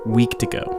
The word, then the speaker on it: Wendigo: But after all of that, he began to tell the story of the Wendigo, or how they pronounce it, Weekdigo, in the only language he had ever heard it, Cree.